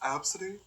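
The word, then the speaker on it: Abcde: It's pronounced Absidy? Somebody- Shut the fuck up, bitch. Somebody was getting made fun of because their name was Absidy, but spelled A-B-C-D-E.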